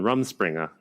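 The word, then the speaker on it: Rumspringa: van and it's it's to amish people on rum springer am i pronouncing that right yes yes that's where they're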